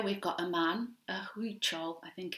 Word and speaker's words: Huichol: So here we've got a man, a huichol, I think it's pronounced, man, wearing his white clothes with a counted embroidery stitch on.